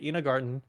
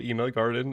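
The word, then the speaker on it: Ina Garten: See, I even got the name wrong. Ina Garden. But they say it like Garden on TV. Okay, Ina Garden.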